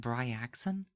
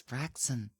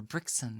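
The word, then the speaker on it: Braixen: um braxon from Pokemon I would have been like bri axon like the whole time somebody like told me it's braon or brickson or like bricken or you know in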